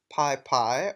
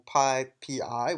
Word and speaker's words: PyPI: Now, Python's package index is known as PyPy or PyPI, which is spelled PYPI.